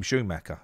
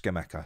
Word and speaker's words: Scamacca: on schema i'm gonna i'm gonna start calling him skimaka now because i've been calling him schumacher and he's he's he's not he's not it's uh he's pronounced scamacker so um i've done